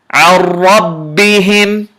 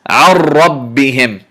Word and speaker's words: عربهم: Notice I add a little bit of the vibration on the ra because there are two ra's here. So it's عربهم. Notice my tongue vibrated slightly more than usual when I'm pronouncing this ra because of the presence of the shadda. There are two ra's here that I must pronounce them both.